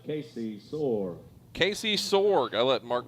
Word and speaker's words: Sorg: I mean, how else can you pronounce S-O-R-G? Sorg?